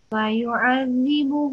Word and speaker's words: فيعذب: إلا من تولى وكفر فيعذبه الله العذاب الأكبر فيعذبه الله العذاب الأكبر. Okay, so try and pronounce this ayn, فيعذب, and try and pronounce this ذال, فيعذب.